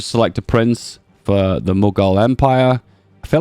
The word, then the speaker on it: Mughal: So you get to select a prince for the Mughal Empire. I feel like I might be pronouncing that wrong. Let's have a listen. It is actually pronounced Mughal.